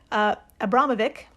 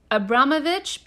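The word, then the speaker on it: Abramović: From the wiki, quote, after Lady Gaga saw the show and publicized it, Abramovic? I think it's Abramovich, but I'm not the expert.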